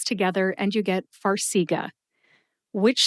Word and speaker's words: Farxiga: Let's move on to the brand name, which is Farxiga. Farxiga has 3 syllables. Far, as in Hawaii, is far from where I am in Ohio, and that's why I've only been there once.